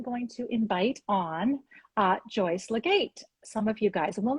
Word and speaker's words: Legate: Alrighty, so I am going to invite on Joyce Legate.